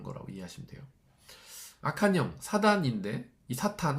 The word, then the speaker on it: 사탄: 악한영 사단인데이 사탄 혹은 뭐 사단 원래 발음 사탄이 맞습니다.